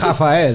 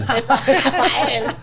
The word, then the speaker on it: Rafael: Well, if you're going to say it like a Puerto Rican, it's Rafael. Rafael.